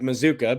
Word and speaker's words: Mazuka: there because it's right the spelling doesn't look like Mazuka but that's how you say it um he is uh